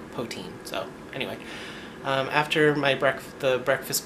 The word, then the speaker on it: poutine: I think they said it's pronounced they just say potin, but I like poutine.